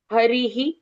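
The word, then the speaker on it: हरिः: यहां पर र के साथ पहले इ की मात्रा है तो विसर्ग का उच्चारण ह के साथ पहली इ की मात्रा ऐसे उच्चारण आएगा। हरिह ओम ऐसे हरि हरि ऐसे उच्चारण होगा।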